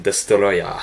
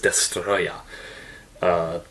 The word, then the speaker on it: Destoroyah: should translate to destroyer they just decided to leave it as a Japanese pronunciation destoroyah so his name is destroy yeah very odd I don't